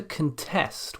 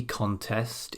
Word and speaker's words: contest: contest whether this beauty contest is necessary nouns then tend to place their stress on the first syllable contest whereas verbs tend to place their stress on the second syllable contest now let's think about